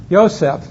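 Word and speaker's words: Yosef: your name kid ysep now why did you say ysep instead of Joseph any he guesses what's the Hebrew letter for Jay there isn't one uh closest they come as a a y for ysep okay the p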